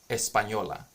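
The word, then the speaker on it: Española: on Espanola like literally in Spanish it's called Espanola like when we say Hispaniola right it's kind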